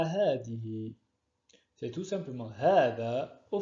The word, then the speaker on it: هذه: Comme certains l'ont peut-être remarqué, lors de la prononciation de ces pronoms démonstratifs, nous faisons une prolongation après le ha. Pourquoi? Alors que vous voyez bien, il n'y a pas de alif après le ha, le alif de prolongation. En fait, il est sujet d'un alif de prolongation qui ne s'écrit pas.